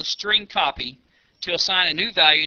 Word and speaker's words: strcpy: of functions available to the program including the string copy function to demonstrate the use of the string